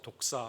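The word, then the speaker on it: δόξα: 좀 발음이 좀 그렇죠. 독사 이렇게 되어 있습니다.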